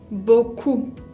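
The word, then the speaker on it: beaucoup: decir muchos digo bocoum boku con la p final que no se pronuncia se acuerda book sí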